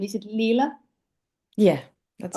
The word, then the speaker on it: Leela: how should I tell your name is it Leela yeah that's right okay okay because in Estonia we we pronounce every letter as as we see so